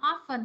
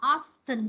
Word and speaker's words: often: Chữ này có hai cách đọc ha, often hoặc là often đều được các bạn, often hoặc là often đều được hết.